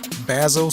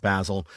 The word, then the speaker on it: Basil: And so I figured, but when my ancestors came to America, my grandfather, he was also Basil, but he wanted to sound more American, so he started pronouncing it Basil.